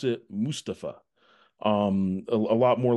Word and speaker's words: Mustapha: some some YouTube clips he would pronounce it Mustafa um a lot more like that so what is the preferred pronunciation of your first name Mustafa Mustafa okay so I'm saying I've been kind of